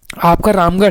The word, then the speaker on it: रामगढ़: तो दोस्तों, देखिए रामगढ़ का उच्चारण कैसे किया जाता है? पहले 'राम' पढ़ा जाता है, फिर ' गढ़' पढ़ा जाता है, और इन दोनों के बीच में 'अ' की ध्वनि आती है।